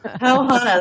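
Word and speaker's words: pau hana: we learned a word yesterday I hope we pronounce it right poana oh yes that means cocktail in Hawaiian pow Hana that's what they that's it's sort of yeah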